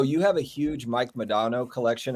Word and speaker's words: Modano: So you have a huge Mike Modano collection. Is that how you say his name? Modano. Yeah. Modano, tomato.